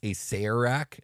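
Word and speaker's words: Acererak: and by the way most people pronounce Acer rack that is how it's supposed to be officially pronounced yeah I know it looks like Easter rack but anyways moving on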